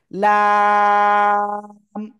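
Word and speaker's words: لام: উপরে মাড়ির দাঁতের গোড়ার সাথে লাগিয়ে আমরা উচ্চারণ করব, এবং 4 আলিফ টান হবে। কয় আলিফ? 4 আলিফ টান হবে। লাম, লাম।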